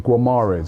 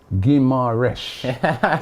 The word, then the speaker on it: Guimarães: Football 2021 says, Robbie on Transfer Daily, stop saying Guimarães. It's Guimarães. Oh, wow. More That's picky, man.